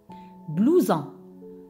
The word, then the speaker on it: blouson: Blouson. Blouson. Oui, ici la lettre S se prononce Z parce qu'elle est placée entre deux voyelles.